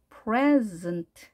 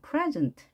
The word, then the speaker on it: present: 앞에 이에 강세가 있죠. 그러면 에에 강세가 있는 거죠. 자음이 나란히 왔습니다. 프레 해주시고요. 프레. 음절이 여기서 만들어지겠죠. 프레. 즈은트. 자음이 나란히 세 개가 왔습니다. 자, 이런 경우의 단어 조합은 없죠. 발음은 이렇게 할지언정 스페링을 쓸 때는 그 사이에 모음이 있는 것을 꼭 확인하시고요. 물론 모음인 경우죠. present 이렇게 발음을 합니다.